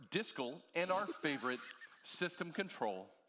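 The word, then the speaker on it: dscl: pronounced you with uh the directory service command line or disco and our favorite system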